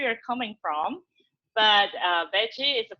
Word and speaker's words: Bedy: coming from but uh veggie is a pronunciation from Brazil so when like if you speak Portuguese especially the Brazilian Portuguese, you would know all the D and the G has the same sound.